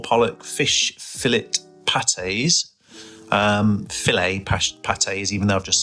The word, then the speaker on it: Filet-O-Fish: As you can see there, the double filt filt is how it's said, not fillet.